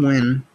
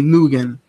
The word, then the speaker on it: Wynn: I don't know how fucking like in Canada over here we say Nugan. That's how we say his last name, Ben Nugan. That's how I'd fucking pronounce it. But I guess it's Wynn. I don't know.